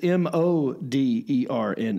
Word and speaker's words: Moderna: Well, no one says, right, it's the word modern with an A at the end.